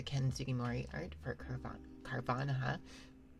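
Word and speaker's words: Carvanha: Um, this one is a 2007 with the Ken Sugimorei art for Carv Carvana. Carvana, right? It's Piranha.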